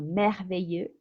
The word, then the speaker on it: merveilleux: Entonces, en todos estos adjetivos que terminan en EUX, siempre vamos a distinguir el masculino del femenino por la pronunciación de la S. Masculino merveilleux, femenino merveilleuse.